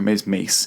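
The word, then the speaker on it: Maas: The character of Hunter Maz, M-A-A-S, or Mace.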